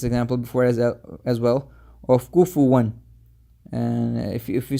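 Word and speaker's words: كفوا: So you should say it like walam yakul lahu kufuwan ahad, kufuwan, like this.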